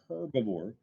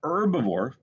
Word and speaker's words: herbivore: herbivore it's not a herbivore the h is silent an herbivore which only needs plants